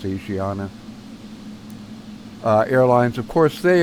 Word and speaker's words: Asiana: I was going to use the a well Asiana is actually how it's pronounced um but some people call it aana I've heard it pronounced both ways it's Asiana uh Airlines of course they are technically really